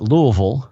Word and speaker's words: Louisville: Well, it depends. If I'm talking to a bunch of Kentuckians, I call it Louisville. Mm-hmm. If I'm talking to people from outside of Kentucky, outside of Kentucky, I call it Louisville.